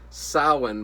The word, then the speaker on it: Samhain: and and it's spelled as i mean it's pronounced samhain but it's spelled like samhain i my dyslexia